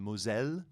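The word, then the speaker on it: Moselle: know these are people that are on the mozelle which is how you say in french uh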